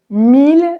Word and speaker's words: mille: Normalement, I-L-L se prononce y, comme dans famille. Mais ville, tranquille, mille sont trois exceptions où on prononce il.